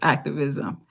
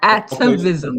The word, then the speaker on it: Atavism: Where can we purchase Activism? Okay, Atavism. So gotta make sure atavism, we pronounce it.